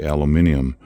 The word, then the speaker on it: aluminium: more um just some aluminum foil that's the way we say it on this side of the pond people over on the other side say aluminium I used to always think they were saying it wrong but apparently it's it's allowed both ways so there's still a